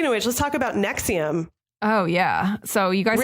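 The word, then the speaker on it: NXIVM: on what happened with nexium well I don't like a prescription drug or something you dis Estelle before your cup like nxi vm yeah and it's just pronounced Roman numerals it's fake roman nose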